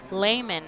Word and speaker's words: Lehman: back on the mound taylor lehman layman excuse me for the fight and fills i might talk to him before the ball game to make sure i got that pronunciation correct it's taylor layman as coming up for